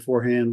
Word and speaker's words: Forehand: And you'll be able to find it under my name, with a K, and Forehand like in tennis.